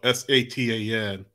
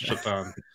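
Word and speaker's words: Šatan: Well, his name is spelled S-A-T-A-N. He's Slovak. But that always seems to be a running joke that his name was pronounced Satan, but it's Chatan.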